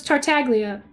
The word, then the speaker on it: Tartaglia: Is it Tartaglia or is it Tartaglia? No, there's no A there, so it's Tartaglia.